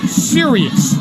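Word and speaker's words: Sirius: band that did that song and it's called Sirus as in XM serus or the you know so it's pronounced the same way spelled the same way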